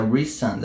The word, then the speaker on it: Rhysand: Ao longo disso, o grão-senhor da corte noturna, que é o Rhysand, que eu quero falar Rhysand, porque o nome dele é meio complicado assim, escrito, mas é Rhysand, a pronúncia certa.